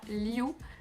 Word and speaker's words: Liu: Personnellement je dis ça Liu, comme L-I-O-U, mais après vous avez